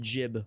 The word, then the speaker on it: gib: So even though we all called it like an instigib rifle, proper pronunciation would be instig jib rifle.